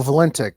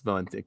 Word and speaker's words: Valentich: So Valentic. Well, that's embarrassing. I've been saying name wrong this whole time. No, we're good now. It's Valentic.